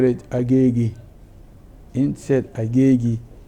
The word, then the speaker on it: Agege: Instead Agege. Instead of calling it Agiga, now they turn it to Agege.